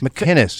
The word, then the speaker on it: McInnes: McInnes. It's a hard C. McInnes? Yeah, there's no G's.